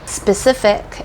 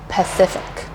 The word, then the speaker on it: specific: yourself and that would be the difference between specific and Pacific so specific Pacific specific Pacific as you probably